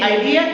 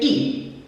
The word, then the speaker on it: idea: differently so i e we say idea they say idea idea this one i struggled